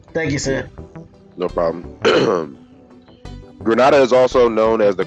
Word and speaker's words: Grenada: I am told from the chat that it's pronounced *Grenada*. So that's my fault. I used to pronounce it Grenada all the time, and now that I'm